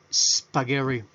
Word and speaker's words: spaghetti: palabra en inglés pronunciación espagueti para guerra recuerden esta s la pronunciamos como cuando una abejita encima de nuestra cabeza hasta haciendo es pagar y pagar y recuerden